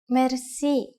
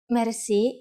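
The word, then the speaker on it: мерси: you will be amazed which word that is Mery mer Meri is a long word from French but it is pronounced with a typical Bulgarian heart are R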